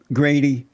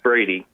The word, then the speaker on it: Brady: about a black conservative Grady its Brady Brady yeah brainy oh they have a G here for some reason it's Brady no okay yeah they